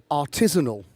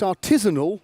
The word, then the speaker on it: artisanal: mechanized way it's pronounced artisanal it is not as I originally thought art is anal which it could look